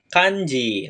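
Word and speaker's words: 漢字: digabung dengan kanji berikut maka dia akan dibaca kanji nah kanji Ya materi yang kita pelajari hari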